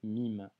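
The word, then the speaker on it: ميم: qui sera la lettre mime le mime en arabe se prononce comme un m en français que tu retrouves en français dans le mot maman hockey avant d'étudier cette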